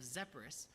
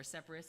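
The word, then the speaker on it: Sepphoris: and this is the site of zepperus or separas it's pronounced several different ways and spell just as many different ways but this is a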